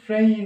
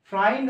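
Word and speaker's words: friend: সেই ক্ষেত্রে একাটা এই জায়গায় আসছে টোটালটা হচ্ছে ফ্রেন্ড উচ্চারণ ফ্রেন্ড কিন্তু আমরা কি করি ফ্রেন্ড বলে দেই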